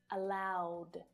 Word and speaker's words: allowed: Allow, ending in the w voiced consonant sound, becomes allowed. Not allowed. No. This is a really, really common error. It's not allowed, but allowed.